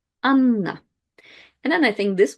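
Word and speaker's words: Анна: When you have a double consonant in Russian, you just pronounce it longer. So if I had just one N, it will be Anna. But with two N's, it's Anna, Anna.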